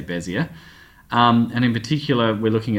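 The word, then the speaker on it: Bézier: So it's all to do with these things called Bezier curves, or I think it's meant to be pronounced Bezier curves, but I just say Bezier.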